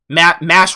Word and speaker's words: Mash: Mash rhymes with trash.